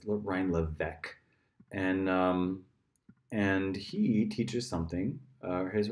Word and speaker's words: Levesque: My name is Ryan Levesque. I help other entrepreneurs launch and grow businesses online. Okay, so I had mispronounced his name. It's Ryan Levesque, and he teaches something.